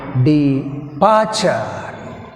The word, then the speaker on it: departure: Departure, departure, departure word. In this word weak prefix is d, that's why we have stress on second part of the word departure.